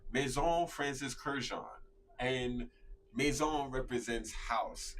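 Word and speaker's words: Courrèges: Ooh, I'm not going to say nothing, Travali, but you butchered it a little bit. It's Courreges.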